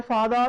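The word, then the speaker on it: father: जैसे माय फादर इज अ टीचर। This is फादर। क्योंकि आर से पहले वो वाला आ गया तो हम लोग आर का उच्चारण नहीं करेंगे।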